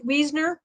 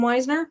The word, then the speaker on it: Wiesner: And then the time travel I found is a contemporary by Melissa, I believe it's pronounced Wiesner rather than Weisner.